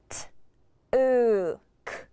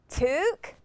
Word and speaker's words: took: First, I'm going to try the OO sound. T, OO, K, TOOK. Wait, that doesn't sound right. I should try the UH pronunciation. T, UH, K, TOOK. That time, OO was pronounced UH.